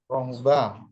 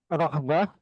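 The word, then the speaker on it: رهبة: Yang pertama adalah rohbah. Rohbah itu takut ya Ustaz ya? Rahbah, ulangi lagi. Ulangi membacanya rahbah.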